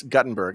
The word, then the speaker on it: Guttenberg: or actually it's Guttenberg. I think he pronounces it Guttenberg.